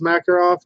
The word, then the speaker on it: Makarov: fine with that and if you don't know how to pronounce Makarov just pronounce it Makarov cuz yes in Russia they pronounce at a different way but you know what I usually just use the American pronunciations right yeah it looks